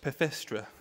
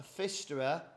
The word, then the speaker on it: Pfisterer: this is a fista it's spelled pist with a silent p a Fister size 3 XL next